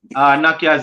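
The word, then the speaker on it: Nortje: A lot of remember we have been talking about it from the other day now because it spells Norjes and it pronounced Nakia.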